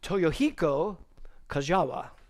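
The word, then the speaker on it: Toyohiko Kagawa: of my head so let's see what's next toyohiko kajawa I looked that up they told me how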